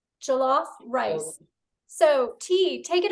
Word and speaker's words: Jollof: How do you pronounce it, Tee? Jollof? Jollof. Jollof rice.